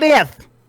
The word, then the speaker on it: Aldith: I can't say his name. I can't do it. Uldinath. Someone else can tell me how to say it. Aldith! It's Aldith?